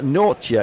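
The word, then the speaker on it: Nortje: known at the moment and just Lewis says nor chia is like Kron yeah okay so that's the pronunciation of the yeah Marx is pretty sure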